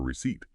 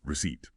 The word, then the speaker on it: receipt: And now for receipt. Here's the tricky part, the surprise. That P is completely silent. You just don't say it.